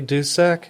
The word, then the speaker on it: Dusek: Okay, this is Marty Dusek. Is that how you say your last name? Yeah, that was well done. Marty Dusek.